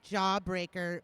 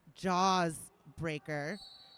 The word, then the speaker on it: Jaws Breaker: I've been saying jawbreaker, but it is jaws breaker.